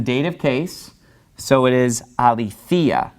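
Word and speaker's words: ἀληθείᾳ: So it's pronounced a little bit differently because the accent is falling on this later syllable. That accent mark's right above the iota there. And also you have that iota subscript. Now remember, the iota subscript is not pronounced. It doesn't change pronunciation.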